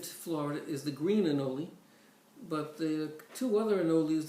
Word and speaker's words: anole: Or they're pronounced anole, A-N-O-L-E.